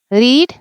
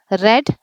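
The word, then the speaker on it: read: रीड इसकी spelling past tense में और पास्ट पार्टिसिपल में सेम है। पर प्रोनंसिएशन रेड रेड है।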